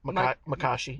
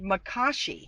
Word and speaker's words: Makashi: Now I can't pronounce that. Makashi. Makashi.